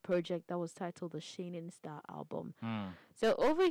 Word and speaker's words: Shayning: I mean, when you hear Shayning, it's trying to rhyme with shining.